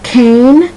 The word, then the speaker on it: Cain: in the Bible um Cain and Abel and his name is spelled c a i n and that I tells you with the a that the a is pronounced like a long a cane okay now that's one